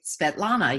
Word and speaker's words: Svetlana: Marilyn, am I pronouncing that correctly? Svetlana, yes.